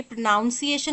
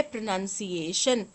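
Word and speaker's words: pronunciation: यहां पर लिखा है तो क्या ये प्रोनाउंस एशन होता है या प्रोनंसिएशन होता है शब्द होता है प्रोनंसिएशन क्या होता है शब्द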